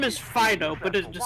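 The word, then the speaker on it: Phidoux: His name is Pho, but it is spelled P H I D O U X.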